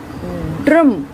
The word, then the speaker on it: ड्रम: भी आप देखेंगे कि ड्रम, ड र, ड्रम। पहले ड की ध्वनि आ रही है, फिर र की ध्वनि आ रही है। और ड की या ट की आप ध्वनि देखेंगे यहाँ भी और यहाँ भी, तो ट की ध्वनि और ड की ध्वनि यह एकदम से बोली जा रही है, जबकि र की ध्वनि पूरी सुनाई दे रही है।